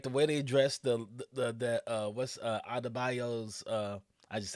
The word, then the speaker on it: Adebayo: Like the way they addressed the Adebayo's I just said her name wrong.